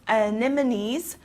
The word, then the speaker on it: anemone: flowers for example japanese anemones are my favorite plants so this word is difficult to pronounce because it has a lot of vowels together so again anemone okay next we have comfortable